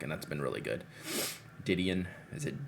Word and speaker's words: Didion: uh joan died on d-don how do you pronounce the name i know she's a just a great prolific writer didion didion yeah didion didion i picked up uh